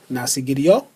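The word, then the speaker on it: nasıl gidiyor: not so giddy your which would be pronounced nasi gidiyor for some reason it just dropped that last letter that last consonant not saggy do not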